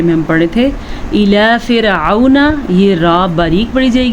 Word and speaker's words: فرعون: اسے فرعون نہیں پڑھ سکتے کیونکہ عین کے اوپر زبر ہے. اس کی اسپیلنگ کیا ہے یا جوڑ کیا ہے؟ فا زیر را فر عین زبر و عو فرعو نون زبر نا فرعون. اچھا بعض لوگوں کو لگتا